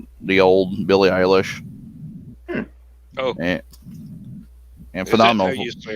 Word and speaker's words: Billie Eilish: Like Yeah, this is what they call those types of music that guilty pleasure, like the old Billie Eilish.